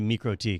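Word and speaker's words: MikroTik: Or we used to call it Microtic because we didn't know any better. But I was Microtik. but it is actually Microtik Yeah.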